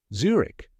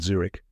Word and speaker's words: Zurich: now the spelling tip it's spelled z r i c h but remember no CH sound at the end now that you've mastered Zurich you can say it